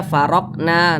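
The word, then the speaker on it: فرقنا: termasuk daripada huruf ah jadi apabila dia sukun maka cara bacanya itu dipantulkan jadi dibaca waid farqna farqnaah mantul seperti itu jangan dibaca farqna Nah itu salah karena tidak ada pantulannya tapi dipantulkan farqna begitu ini dia termasuk qolqalah Sugra karena dia berada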